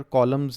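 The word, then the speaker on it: column: रोज है य ऊपर कॉलम्स ने ठीक है कॉलम दे विच क्योंकि एन साइलेंट है तो स्टूडेंट्स एन खा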